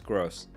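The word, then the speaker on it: Groß: Yeah, it's pronounced Gross, not Grob. It's a S-set. It's a like a German character. Pronounced like two S's, so it's Gross.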